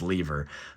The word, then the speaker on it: Lever: I'm sure that's pronounced lever, but I think if I was him, I'd say call me Fat Lever.